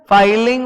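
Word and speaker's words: filing: देखो double L का मतलब होता है फिलिंग, सिंगल एल का मतलब होता है फाइलिंग।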